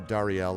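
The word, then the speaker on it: Dare'el: got uh let's see marie you've got uh darielle i believe yep and dario by the way is spelled d-a-r-e-apostrophe-e-l but it is pronounced uh dariel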